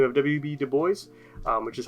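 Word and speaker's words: Du Bois: things and man by the name of WB Dubois which is how it is pronounced again he's gonna found the n-double-a-cp or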